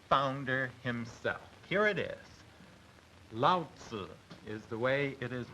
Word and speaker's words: Lao: of the supposed founder himself here it is Lau is the way it is pronounced literally Lao means old and means uh